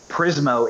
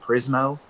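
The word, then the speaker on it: Prizmo: that's still available I remember no I don't prismo is another option and this also an OCR app like can ifb reader it's spelled p-r-i-z as in Zulu m is in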